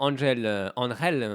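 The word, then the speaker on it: Ángel: Et on peut dire, on a vu un grand Angel, parce qu'il faut le prononcer comme ça.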